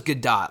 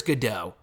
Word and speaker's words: Gadot: pronounce your last name i always thought it was good dot like how it's you know phonetically spelled but i'm pretty sure it's godot g-a-d-o-t but anyway uh that